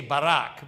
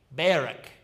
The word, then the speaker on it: Barak: Some people will say Barak, but it's actually it's a different pronunciation. Barak.